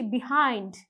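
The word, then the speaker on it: behind: মোটেও পাচ্ছি না বরঞ্চ বাই এখানে বি হিসেবে কিন্তু উচ্চারিত হচ্ছে একইভাবে যখন আমি বিফোর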